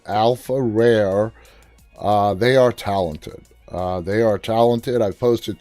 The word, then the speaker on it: AlfaRare: It's spelled ALFARARE. Alpha Rare. All one word.